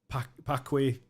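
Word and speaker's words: Paqui: I cannot imagine what goes through a human like having to eat the devil's toe or the pakwe. How do you pronounce that?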